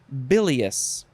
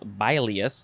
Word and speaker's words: bilious: or state of being bilious there's only one l i don't think you say by bilius you can't say that it's bilious three ready disposition to